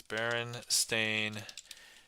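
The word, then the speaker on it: Berenstain: Um, but yeah, so I here just so Baron Stain Bears is actually spelled like this. Baron Stain Bears.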